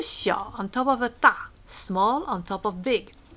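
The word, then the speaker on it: 大: Okay, this word is pronounced da and means big or large.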